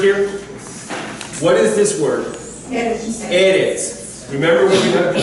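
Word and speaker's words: ארץ: Eretz. Eretz. Melech. King. Melech. So the emphasis, when you have the double short E, the emphasis will go on the first, almost always will go on the first syllable.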